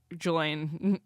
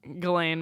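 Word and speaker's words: Ghislaine: And then uh the documentary about Gelain Galain Maxwell. Galain Maxwell. Is it G or J? She's a predator. I just know that the S is silent.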